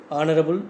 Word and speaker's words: honorable: Honorable family. So here also it's silent. Honorable, vowel sound.